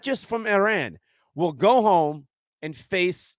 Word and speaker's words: Iran: the American side about how to pronounce Iran not Iran okay uh it was